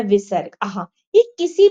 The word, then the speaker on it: विसर्ग: दूसरा है विसर्ग। अह यह किसी भी अक्षर के सामने लगाया जाता है। इसका उच्चारण ह की तरह होता है।